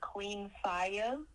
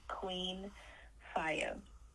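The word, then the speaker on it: Q33NFIY4: and Audio Mac um under the AR name Queen fire and that is spelled q33 n f i y4 again that's pronounced Queen fire okay now for this album alone you have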